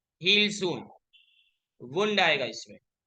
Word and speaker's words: wound: The desk needs to heal soon, वुंड आएगा इसमें। वुंड WOUND यानी घाव, लेकिन वही स्पेलिंग वाउंड से बोलो तो वाइंड का पास्ट टेंस होता है।